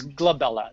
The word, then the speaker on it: glabella: glabella frown or the number 11s but it's glabella g b l a okay got it now